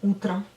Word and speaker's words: утро: Donc bon matin, ça veut dire доброе утро, доброе утро. Encore une fois, vous écrivez утро, mais vous prononcez утро.